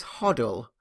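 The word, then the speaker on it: HODL: is real so this one's interesting this is huddle which means hold on to your coins and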